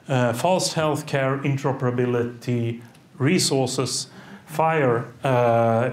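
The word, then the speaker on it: FHIR: within nationals having called false healthcare interoperability resources fire uh it's pronounced the idea here is that they updated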